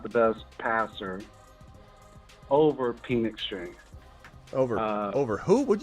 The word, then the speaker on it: Penix: I I absolutely not Michael penix Jr pen penex say it right penix penix say it right pen penix hey look